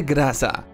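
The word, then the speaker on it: Groza: Finally, it's the Graza, and for the record, that name is Russian and is pronounced that way.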